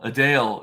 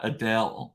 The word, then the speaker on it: Adele: we were talking about um earlier that people mispronounced my name they said copper and a Dale a Dale is how you're supposed to say not Adele so to speak Adele um so I was